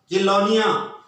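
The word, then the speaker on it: Chelonia: बट एक order आएगा कि लोनिया, सी के बाद में एच आ रहा है तो उच्चारण प्रोनाउंसिएशन हमेशा कै होगा, सी के बाद में आई ई आई वाई आई तो सह होगा। तो किलोनिया ऑर्डर रेस्पिरेशन में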